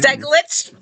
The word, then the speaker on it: Steglich: Steglich.